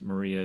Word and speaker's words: Marie: Yeah, so I pronounce her name Mari, although I'm sure many, as they're reading, see Marie in their head.